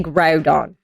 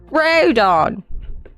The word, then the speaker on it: Groudon: No, because they just take out the N. But he's from the ground. So Groudon. Just take out the N. Groudon.